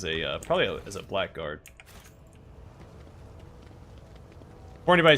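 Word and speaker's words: Blackguard: uh probably as a blackard before anybody says it I know it's pronounced blackard but but I'm not going to call that class just doesn't beond doesn't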